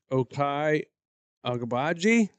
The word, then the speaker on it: Ochai Agbaji: Ochai Agbaji. Okai Agbaji?